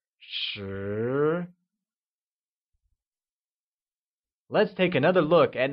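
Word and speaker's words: 十: 10 becomes shí and is pronounced with a mid-rising tone, like shí.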